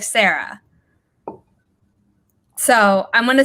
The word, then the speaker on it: Sara: it was pronounced like Sarah so I'm gonna say that and if I'm wrong correctly but I think I remember you telling her it's pronounced like Sarah rather than Zarah so that's such a